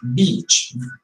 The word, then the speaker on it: beach: you go on vacation you have to pronounce it like this beach very very look because if you pronounce a short vowel like it is not the place for a woman for a bad word but bad bad word